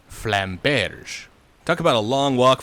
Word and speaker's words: flamberge: So we'll go with the French pronunciation of flamberge.